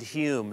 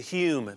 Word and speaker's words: Hume: What David changed it to Hume, must have thought that that's how the Scots were pronouncing it and it was easier to understand how to pronounce it, that the home must have been more like Hume, and so he changed